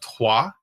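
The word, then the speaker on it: Troyes: if you try to look up the game tois is t ro y es but that's how you pronounce it just like Selenia is soo le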